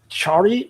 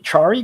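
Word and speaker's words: Ciari: um uh C uh Chari Chari guitars I think it's pronounced C I A R I.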